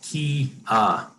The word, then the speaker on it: Quia: go first of all it's pronounced key uh and uh like i